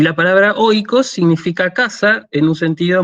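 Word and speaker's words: οἶκος: Después tenemos el diptongo oi, que se pronuncia así, hoy. Entonces tenemos la palabra, como ya lo vimos la clase pasada, tenemos la palabra Moira, ¿sí? Y la palabra oikos.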